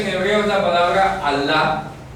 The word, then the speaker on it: Allah: No, Alá no, Allah. Allah. Ya aprendió a pronunciarlo. ¿Ya? Allah. ¿Con qué cultural? No es la doble L en árabe, suena así.